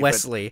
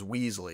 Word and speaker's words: Wesley: His named Wesley. Wesley, but he mispronounced it as Weasley.